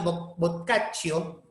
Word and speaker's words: Boccaccio: Giovanni Boccaccio, ¿no? Así se pronuncia, Boccaccio, va a tener su obra de Cameron, ¿no?